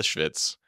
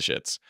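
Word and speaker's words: shvitz: So the first was the Schvitz, not the Schitz.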